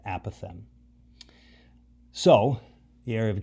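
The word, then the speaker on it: apothem: at a right angle it's called the app of M that's how you pronounce that word a path M so the area of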